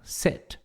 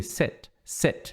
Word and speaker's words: sit: Ele não é exatamente um i curto, ele é meio que uma mistura de i com e. É tipo um sit. Não é e, tipo set, mas é um no meiozinho ali. Sit, tá?